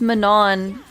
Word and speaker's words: Manon: the audio books cuz I've been calling her Manon cuz I thought that's how you pronounce it which is correct but in this context she's Manan and now I don't